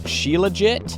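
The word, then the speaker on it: Shilajit: It's got I'm going to pronounce this terribly wrong, but Sheillejit.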